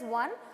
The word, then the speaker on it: ketone: name ends with on it's not pronounced as one but it is being